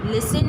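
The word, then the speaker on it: listen: लिसन, लिसन में T silent है, T लिख दिया।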